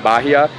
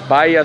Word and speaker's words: Bahia: We realized we were mispronouncing it. We were saying Bahia. It's Bahia Solano.